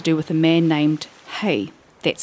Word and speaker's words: Hei: it has to do with a man named Hei, that's spelled Hei, a leader, a master navigator.